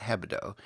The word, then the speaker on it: Hebdo: They had inside information, obviously, because they knew when the editors of Charlie Hebdo, and I kept saying it, pronouncing it, putting the D first, it's Hebdo, and it means weekly, apparently in French, or French slang.